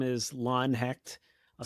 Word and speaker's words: Hecht: Once again, my name is Lon Hackt. I'll spell it, l o n h e c h t.